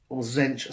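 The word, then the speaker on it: Tzeentch: There is no Khorne, Slaanesh, or Zench specific, or Zinch, depending on how you want to pronounce it.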